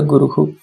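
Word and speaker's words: गुरुः: Whenever the Visarga comes, the Visarga will repeat the same vowel pronunciation of the previous vowel. Okay, for example, Guru and Visarga, Guru ends with U, so the same Hu will be repeated there.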